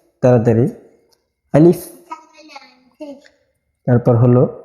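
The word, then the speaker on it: ألف: অনেকে উচ্চারণ করার সময় আলিফ এভাবে পড়ে এভাবে পড়লে উচ্চারণটা সঠিক হবে না এজন্য আমাদের এই হরফটা বলার সময় খুব তাড়াতাড়ি পড়তে হবে যেমন আলিফ তাড়াতাড়ি আলিফ তারপর হলো বা তা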